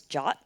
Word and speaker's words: JWT: often abbreviated as JWT which some people pronounce as jot I guess it's easier